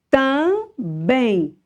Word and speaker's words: também: Também. Bem é a sílaba mais forte.